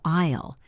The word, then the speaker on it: aisle: The aisle is the walkway between the seats. Note the pronunciation of aisle. The S is silent. It rhymes with pile.